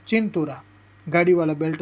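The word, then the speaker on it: città: उसको इटालियन बोलते हैं चीता चीता है देखो सी आई टी टी A Italian में पढ़े ची ई त अ चीता चीता यानी सैर चेवेलो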